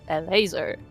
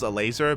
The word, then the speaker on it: Elazer: like yeah whatever yeah I always assumed it was a laser but as a Polish person is it pronounced differently in Polish or elazer elazer has he said yeah because we don't have the a we just read it as as it is but like again like